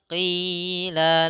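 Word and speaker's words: قيل: Wa iza za, wa iza qila lahum. Pada lafal qi jangan ki, jangan dibaca dengan kaf, tapi qi kita tahan.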